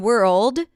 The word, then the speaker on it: world: The difference between word and world is the dark L.